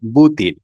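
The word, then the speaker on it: بوتين: আর পরের অংশ হচ্ছে ফুতিন। এটাকে আরবিতে বলা হয় বুতিন। খালাদিমির বুতিন। অর্থাৎ যেটা ভি দিয়ে শুরু হয়েছে সেটা আরবিতে উচ্চারণ হয় পা দিয়ে। আর যেটা ফি দিয়ে শুরু হয়েছে সেটা আরবিতে হচ্ছে বা দিয়ে।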